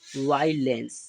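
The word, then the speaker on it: violence: बन जाती है तो यहां पर हमने वी से वा ई वाई यहां पर ओ जो होगा वो साइलेंट होगा एल से ला ई से ए एन से अं की बिंदी लगाई और सी से सा य जो हमारा होगा वो क्या होगा साइलेंट रहेगा ठीक है तो इसे हम क्या पढ़ेंगे वायलेंस क्या पढ़ेंगे वायलेंस ठीक है तो वायलेंस का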